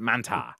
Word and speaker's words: Mantaur: as well it's spelled mantor but they do pronounce it Manta Manta Manta well but he was known as